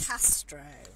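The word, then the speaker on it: κάστρο: castle is a Castro a Castro and that is spelt ka STR Oh a Castro yeah Preston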